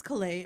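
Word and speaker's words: Caillat: This is Colby, I think it's Calais.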